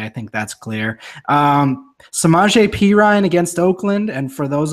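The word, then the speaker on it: Perine: scare you away I think that's clear semaj P Ryan against Oakland and for those of you who barely know who some are JP Ryan is that's how you say it's not some Perrine like i pronounced it for two years while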